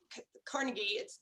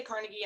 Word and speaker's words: Carnegie: And as you were talking, I was thinking about Andrew Carnegie. I say Carnegie, and I think some other people might pronounce it Carnegie, but it's weird that